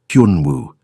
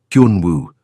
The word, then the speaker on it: Hun Wu: Hun Wu. He said it slowly. Hun like hun, but with a Y sound. Woo. Like woohoo. Hun Wu.